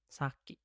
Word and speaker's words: 先: Kalau enggak ada berarti walaupun kalau dia lagi sendirian bacanya si Kuniomi ini saki. Ini bacanya saki kalau sendiri.